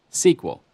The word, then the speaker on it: SQL: for structured query language you'll often hear SQL pronounced as an acronym sequel these commands to retrieve